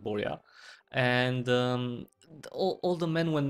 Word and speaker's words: Borja: It's spelled Borga, but it's pronounced Borja.